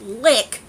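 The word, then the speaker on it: Liqe: this alright the company lick which is spelled liq e li qu e and it's pronounced lick sent me some items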